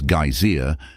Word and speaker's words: geyser: The geyser, a word the Icelanders pronounce gazer and which signifies fury, rose majestically from its summit.